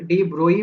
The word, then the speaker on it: de Broglie: बताया, डी ब्रोगली बच्चों डी ब्रोगली को प्रोनाउंसिएशन कोई लोग डी ब्रोई भी करते हैं तो हम लोग यहाँ पर डी ब्रोगली बोल रहे हैं।